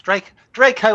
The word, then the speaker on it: Draco: Yes, Draco as in Malfoy in Harry Potter.